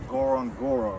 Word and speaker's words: Ngorongoro: as you guys seen we were at the Goron Goro right that's how you say it just ignore